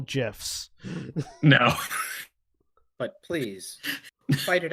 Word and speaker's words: GIF: acronyms by the words that they contain you pronounce them by the word yeah yeah and the word is gif because it's gift without the tea how about